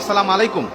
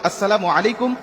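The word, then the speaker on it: السلام عليكم: আবার অনেকে বলি সালামু আলাইকুম। মানে আল্লাহর গজব তোমার উপর পতিত হোক। বিভিন্ন রকম অর্থ বিকৃতি করে আজকে আমরা সালাম মানুষকে দিচ্ছি। দেওয়ার কারণে আজকে আমরা সালাম ফলাফল গুলো পাচ্ছি না। এজন্য কখনো আমরা এইভাবে সালাম দেবো না। সালামের উচ্চারণটা আমরা সঠিকভাবে দেব। আসসালামু আলাইকুম ওরাহমাতুল্লাহ বলে আমরা সবাইকে সালাম দেওয়ার চেষ্টা করব।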